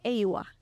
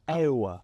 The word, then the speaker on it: Awuah: But in Ghana, it's Awuah, not Awuah. Awuah. Kind of like Awuah, but Awuah, but Awuah.